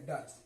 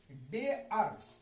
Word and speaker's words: dare: अब आइए DARE, कुछ लोग पढ़ेंगे डर, नहीं, डेअर।